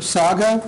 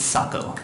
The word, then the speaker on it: Sacco: Is it Mr. Sago? Am I pronouncing that correctly? Sacco. I'm sorry? It's Sacco.